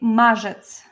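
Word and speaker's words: marzec: finally it will be mjets mjets mjets so this r with zed is uh pronounced as J maets March March after maets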